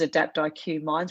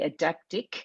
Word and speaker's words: Adaptiq: form that second company which you pronounced as adapt iq minds which most people do it's actually adaptic um and it's a